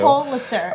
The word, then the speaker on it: Pulitzer: P-U is how it's spelled. Excuse you. Pulitzer.